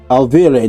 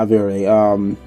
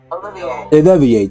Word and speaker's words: Olivier: Olivier, not Olivier. Olivier, thank you.